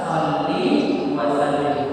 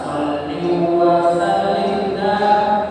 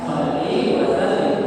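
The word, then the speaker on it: صلِّ وسلِّم: benah yang benar bagaimana shalli wasallim bukan shall wasallim salah shalli wasallim mukat salah yang benar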